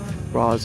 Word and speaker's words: Rosz: Um, and it also helps phonetically uh for people to know how to pronounce Raz R O S Raz Al.